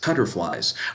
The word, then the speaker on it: Kiutterflies: Kiutterflies, pronounced cutterflies, are magical butterflies that can manipulate ki energy.